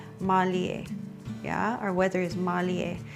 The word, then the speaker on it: mālie: Our ʻōlelo, or a Hawaiian word for today, is mālie. E hoʻopili mai. Mālie. And it can also be pronounced mālia.